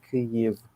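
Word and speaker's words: Kyiv: in the picture it's because that's the ukrainian pronunciation which is kiev which um you know interesting interesting fun fact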